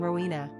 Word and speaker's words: Rowena: Quick facts on Rowena. Gender, girl. Origin, Celtic. Number of syllables, 3.